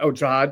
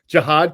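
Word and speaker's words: Jihaad: We spoke with Campbell, the first-round pick, whose name is just flown out of my – Jahad Campbell. I pronounced it correctly. Jahad Campbell.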